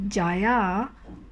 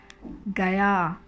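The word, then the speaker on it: گیا: Instead of becoming jai or jaya or something like that, it becomes gai, gaya, gaye, and gai.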